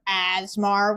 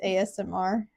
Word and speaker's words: ASMR: yeah I like how every time you call it Asmar when it's ASMR can I not pronounce